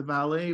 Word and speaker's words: valet: Scott used the valet parking service. He tipped the driver $5 to safely park and return his expensive car. Notice the pronunciation of valet. We don't pronounce the final T.